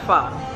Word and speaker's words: pho: We're gonna have pho. That's how it's actually pronounced, not pho.